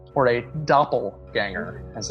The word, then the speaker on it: doppelganger: Yeah, you recognize him as what is known as a doppelganger, or a doppelganger, as it's supposed to be pronounced.